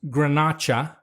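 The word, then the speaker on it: Garnacha: you got it but when we talk about those grapes in Spain Grenache is actually pronounced grenacha ah and movement that's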